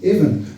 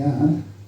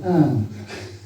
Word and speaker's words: Avon: Now, if you stick H's after a letter and a consonant in Gaelic, the same thing happens as happens in English. The consonant sounds different, or it may disappear. So, Anne.